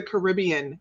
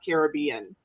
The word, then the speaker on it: Caribbean: Since we're talking about pronunciations, it is the Caribbean, not Caribbean.